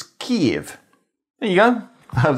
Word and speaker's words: Kyiv: If you want to know how to pronounce the name of the capital city of Ukraine in English, it's Kyiv.